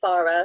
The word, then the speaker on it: Farah: Is that how I say your name, Farah? It is. Yes, thank you. Oh, thank you so much, Diane. Yes, that is exactly how you say my name. Some people say Farah, some people say Farah, but Farah is absolutely fine.